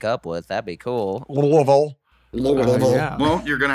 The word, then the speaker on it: Louisville: So Louisville, Kentucky.